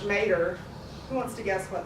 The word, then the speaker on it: mater: A matrilineage, this prefix comes from a Latin word, we would pronounce it in English, mater.